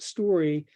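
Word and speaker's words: STQRY: of a company called story stq that's not misspelling by the way s-t-q-r-y they pronounce it story and it's a cute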